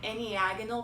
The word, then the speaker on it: enneagonal: It's an enneagonal prism. So that's spelled E-N-N-E-A-G-O-N-A-L prism.